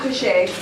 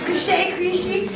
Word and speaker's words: Krishy: No, it's not Krishay. That's No, he liked it like that, but it's free. Don't do that to me. I'm like Krishy.